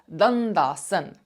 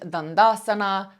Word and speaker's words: Dandasana: staff pose, which is Dandasana. Dandasana. Some of you might want to add the A onto the end, Dandasana. I personally skip the A, always have done.